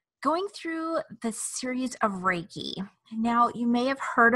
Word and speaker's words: Reiki: life energy what is Reiki well Reiki is pronounced Reiki it is spiritual wisdom and life energy it